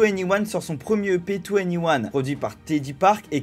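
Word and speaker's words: 2NE1: en to anyone d'ailleurs ce nouveau nom qui se prononce to anyone forme une combinaison des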